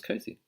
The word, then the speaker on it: cozy: Now, even though there's an S in cozy, do you notice how it's not cozy? It's cozy. Z. There's a Z sound.